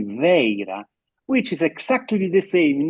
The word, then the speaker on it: Vajra: But the best approximation for the pronunciation of Vajra, Vaira, in Prakrit, Gandhari, is actually Veira, which is exactly the